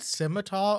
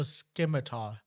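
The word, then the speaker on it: scimitar: simitar style love that is it simitar or skar cuz I've heard it pronounced both ways that doesn't matter to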